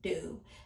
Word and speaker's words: Doux: So, it says pronounce "do".